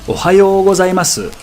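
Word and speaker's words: おはようございます: The kana is su, so if you really wanted to be proper, you would say Ohayo gozaimasu. That would actually sound even more polite.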